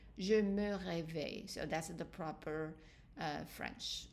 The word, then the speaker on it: réveille: But for the je and tu, the e are dropped, they are silent. So let's practice the pronunciation. Je me réveille, and you keep the emphasis on the e.